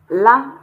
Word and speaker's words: 了: L-E, but pronounced like it's English L-A, la.